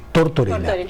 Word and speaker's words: Tortorela: pero hoy recibimos a Torterola, eh, Tortorela. Tortorela, así se pronuncia.